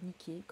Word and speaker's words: Niké: Oui, il s'appelle Niké, ça s'écrit comme Nike d'ailleurs, qui reçoit des patients de tous horizons.